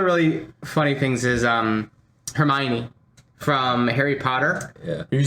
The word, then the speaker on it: Hermione: and the entire book series i think i pronounced that herman any yeah it's funny because uh yeah i know it yeah he calls her hermione i call her her her hermione or something